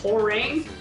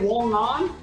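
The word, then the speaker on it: Hwoarang: No man, the thing that I hate, remember in Tekken 3 when they couldn't pronounce Horang? They said Wong On?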